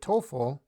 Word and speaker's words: TOEFL: if you look at TOEFL we pronounce it as a word but EF l we